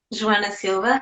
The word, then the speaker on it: Joana Silva: Okay, so my name is Joana Silva. That's how you pronounce it in Portuguese. Joana Silva.